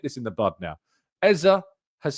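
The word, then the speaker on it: Eze: Eza has said both in interviews that I have witnessed and also with his Premier League pre-season comments that he pronounces it.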